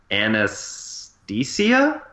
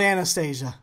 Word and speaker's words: Anastasia: I thought it was anesthesia, like the drug. Yeah, I feel like it's probably more like that. I'm probably saying it wrong. This is called Anastasia. You worked on no, that, it doesn't didn't say you? Anastasia. I did. Yeah. Fail. There's a TH in there.